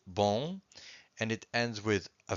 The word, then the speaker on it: bom: In fact, every time you have a syllable that ends with a vowel and a M or a vowel and